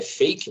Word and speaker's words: PHEIC: pública de importância internacional, que em inglês é fake, né? Estão até buscando mudar esse PHEIC, né? Mas o pessoal pronuncia fake, né?